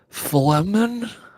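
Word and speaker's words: Flehmen: How do you pronounce that? I have no idea. It's Flemen.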